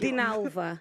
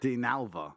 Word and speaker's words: Dinalva: I can't pronounce it. Dinalva. Dinalva.